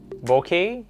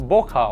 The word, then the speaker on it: bokeh: Bokeh, bokeh, or... Well, it actually came from a Japanese word known as bokeh. Bokeh, not boka or some other pronunciation.